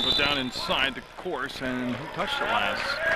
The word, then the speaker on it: Course: It's pronounced Course, so I got lucky and I did it right.